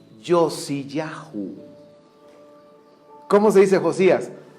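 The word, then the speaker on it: יֹאשִׁיָּהוּ: Ahora, fíjense cómo se dice Josías en el hebreo. Yosiyahú. ¿Cómo se dice Josías? Yosiyahú.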